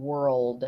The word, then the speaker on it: world: words that have an L after the OR sound, so like world, that L gets lost. So make sure that you're able to pronounce the L in world, Oh, world.